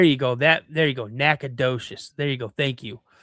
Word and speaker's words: Nacogdoches: Nacogdoches. There you go. Thank you. See, why don't they spell it how it sounds?